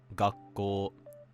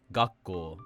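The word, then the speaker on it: 学校: Again, because of how English works, there's a really strong inclination to say something like gakko or ginko, and learning to recognize that these are actually pronounced flat will instantly make your accent better.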